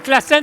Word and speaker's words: Klaassen: Est-ce que Manuel Classen est là? Oui. Est-ce que j'ai bien prononcé votre nom ou pas? C'était super, bravo.